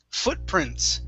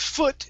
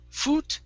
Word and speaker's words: footprints: good next up is footprints make sure to pronounce the s there at the end footprints footprints okay now with foot instead of foo foot it's fur just like look so foot footprints footprints